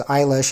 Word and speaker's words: Eilish: on the eye because Eilish is pronounced very similarly to eyelash.